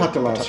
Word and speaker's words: Patalas: With this process, there was a 30-year sequence of time in which people like uh Enno Patalas, am I pronouncing that correctly? Patalas, yeah.